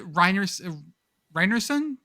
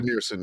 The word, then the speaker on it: Rynearson: Like Creighton Field at Reinerson? That's it. I always pronounce it wrong. Rynearson, yeah. Rynearson.